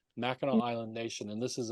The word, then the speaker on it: Mackinac: Mackinac Island Nation, and it's spelled with a C, but it's pronounced with a W because it's French. Mackinac Island Nation, and this